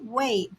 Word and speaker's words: 为: This Chinese character has two pronunciations. When pronounced as wei in the fourth tone, it has two main usages.